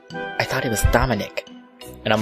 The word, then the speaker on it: Dominic: didn't realize it because she pronounced it Dominique. No one else raised their hands, so I figured it was me and raised mine. Right after I did, I tried to say, it's Dominic, but I guess I was too